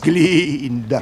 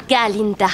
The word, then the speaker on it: Galinda: Miss Glinda, en réalité c'est Galinda.